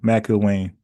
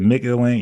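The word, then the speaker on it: McIlwain: Okay, I got you, Mac Ilwain. I say Mick. I said Mick Ilwain. Yeah, Mac, like Mac McClung.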